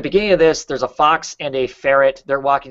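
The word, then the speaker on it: Fawkes: like the there's a fox character in here his name is the last name of his family is is um Fox but it's spelled like f a w KES but um and you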